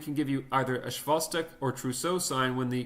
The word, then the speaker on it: Chvostek: That's Chvostek, or presumably it's pronounced Schwostek.